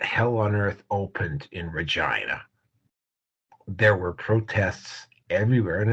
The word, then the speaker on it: Regina: You would have thought that hell on earth opened in Regina.